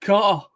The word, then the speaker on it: Carter: Whenever I hear Chris Carter, I've got to do it in a proper British way. Pronounce it as the British word, Carter.